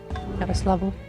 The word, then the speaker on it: Yaroslavl: Do I pronounce the L? The second L? Yaroslavl? I'm gonna say that maybe I do.